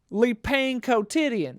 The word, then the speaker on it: Le Pain Quotidien: Le Pain Quotidien. That's how you pronounce it in French.